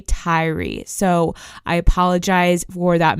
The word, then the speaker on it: Tyre: pronounce the name Tyree but I have been pronouncing it Tire all online people were saying Tire nickels so I assumed that was how to pronounce it but it's actually Tyree so I apologize for